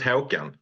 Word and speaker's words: Håkan: I'm gonna butcher it I pronounce it Howen Howen yeah something that's fine